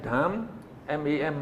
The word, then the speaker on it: Dhammam: So now we call D-H-A-M, Dham, M-A-M, Mam, Dhammam Saranam Gacchami.